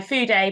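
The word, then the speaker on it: Fude: I was using my food a pen which is spelled like Feud so f-u-d-e it's a sailor uh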